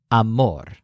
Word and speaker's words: amor: we identify as love his word for love simply stresses the syllable more amor all of these words